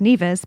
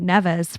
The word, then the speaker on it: Nevis: one of us like knew what neas was or that it was even pronounced neas because you've been calling it nevas for like you know as long as you've known about it and um yeah I